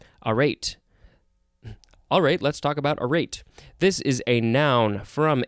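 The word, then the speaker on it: arête: had to get out now we have a rate i think that's how it's pronounced um there it is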